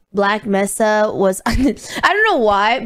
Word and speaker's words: Black Mesa: myself this time today is it mesa i think it's pronounced mesa black mesa okay black mesa